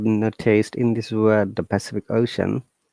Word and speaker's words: Pacific Ocean: You may have noticed in this word, the Pacific Ocean, letter C has three different sounds. The first one is sa, then ka, then sha, which means that letter